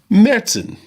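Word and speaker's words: Märzen: and I'm going to pronounce this correctly now medson that's how you pronounce it believe it or not I didn't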